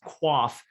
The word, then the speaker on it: QOF: blue on this map a q o f or sometimes it's referred to as an o z fund or some people will pronounce qof as quaff refers to the qualified